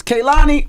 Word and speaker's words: Kehlani: It's Kehlani.